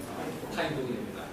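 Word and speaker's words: Thánh Tông: 성종 베트남식을 읽으면 재밌게 읽어요. 성을 갖다가 타인이라고 읽고요. 베트남으로. 그리고 이제 종자를 갖다가 똥이라고 했습니다. 합치면 뭐가 될까? 타인동이입니다.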